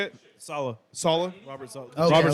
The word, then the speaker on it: Saleh: Solace, is that how you say it? Saleh.